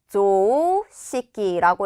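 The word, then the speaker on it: 常識: 조시키라고 해서 조 길게 읽은 거 체크해 주시고 시키라고 읽은 것도 체크해 주세요.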